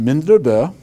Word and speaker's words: Mindrebe: And he came in through Boston, and my last name in Norwegian is pronounced Mindrebe, and my father was Magnus, the son of Soren, so Magnus Sorensen from Mindrebe.